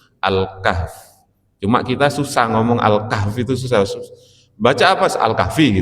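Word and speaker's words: الكهف: Surah Al-Kahfi bacanya itu sebetulnya Al-Kahf ya. Kalau ngomong Alkahfi itu seakan-akan setelah fa itu ada ya-nya. Cuma orang kita itu sudah terlanjur kebiasaan baca surat apa? Alkahfi. Alkahfi itu Alkahfiyu gitu ya. Jadi harusnya bacanya Alkahf enggak ada ya-nya ya.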